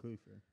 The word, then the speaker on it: Kluver: Kluver.